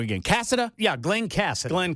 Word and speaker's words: Casada: Cassida. Yeah, Glenn Cassid. Glenn Cassida.